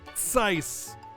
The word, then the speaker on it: Zeiss: Well, it's Zeiss with a T at first. Zeiss, because that's how the Z is pronounced.